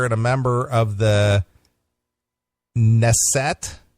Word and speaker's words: Knesset: A former Israeli minister and a member of the Knesset, K-N-E-S-S-E-T. Okay. How do you say that? I don't. Knesset? Knesset, I guess. I guess the K is silent.